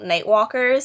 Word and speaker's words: Nightwalkers: the um jeffrey campbell nightwalkers i think i said it wrong in my other video i said like the nights but they're called night walkers and they're so cool